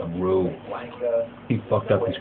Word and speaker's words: Ryu: We didn't know Ryu was actually Ryu. Blanca, It's Rue.